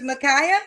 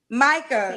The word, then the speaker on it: Micah: Your name is Micaiah. Am I saying it right? Micah.